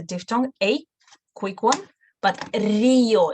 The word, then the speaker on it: río: Y va a ser Río de Janeiro. Río de Janeiro. So here is a diphthong, a quick one, but Río, it's not Río, Río.